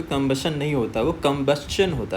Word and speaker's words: combustion: यहां पे हमें बी से स्ट्रेच शुरू करना है। यहां से हमें लाउड पढ़ना है।